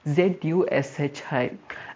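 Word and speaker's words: ずし: Japanese में sushi को जूशी करके प्रोनाउंस किया जाता है, ZUSHI।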